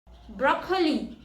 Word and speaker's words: broccoli: The next word is broccoli. And the correct pronunciation is broccoli. It's not broccoli, it's broccoli.